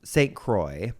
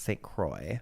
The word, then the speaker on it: St. Croix: then they tell the local sheriff's department in St. Croix, is how you pronounce it, c r o i x, St. Croix.